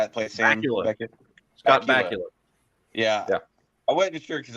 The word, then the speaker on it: Bakula: Scott Bakula. Yeah. I wasn't sure because I've heard it pronounced, a couple different ways, so I was never really sure.